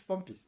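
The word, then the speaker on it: Pompeii: And when Mount Vuvius erupted and covered the city of Pompei or Pompei, the way I pronounce it and the owner say it's Pompy because I saw in some sea some seaworms under being called Pompy when they discovered.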